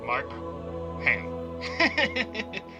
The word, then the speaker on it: Markham: That's spelled like Mark Ham.